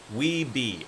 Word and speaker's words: Wiebe: Daniel, I'm going to say, I'm going to pronounce this wrong. Is it Wiebe? W-I-E-B-E? Who'd you get to do your cover art? Weeby.